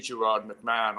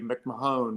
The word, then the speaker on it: Gerard McMahon: to a lot of people when they see gerard mcmahon on you know earlier records but i changed